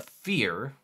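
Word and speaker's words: feyr: just doesn't all right this is pronounced a fear f-e-y-r fear a tentacled horror that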